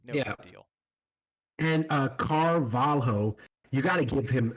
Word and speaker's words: Carvalho: I mean, the easiest way, if you see LH in any Portuguese whatsoever, Yeah, you pronounce it more as a Y. You know how in Spanish it's double L that's pronounced as a Yeah. Y? yeah. Mhm. For Portuguese, it's LH, Nice. basically.